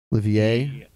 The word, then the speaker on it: Olivier: Olivier. There's an R at the end as well. Yep. Silent R.